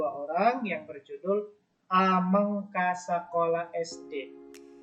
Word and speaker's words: ameng: Ameng bukan ameng ya. Kenapa bukan ameng? Karena E-nya itu di atasnya tidak ada tanda petiknya. Jadi huruf E-nya itu berubah bunyinya menjadi E. Jadi ameng dibacanya, bukan ameng. Kelas yang lain ada yang baca ameng, itu tidak tepat ya.